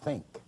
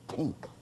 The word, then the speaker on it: think: And when she taught me to read, a word like think, she pronounced as tink.